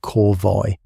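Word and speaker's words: corvée: The system that sent Thomas out to work on that road had a name, the Corv pronounced, if you're curious, something like Corvoy.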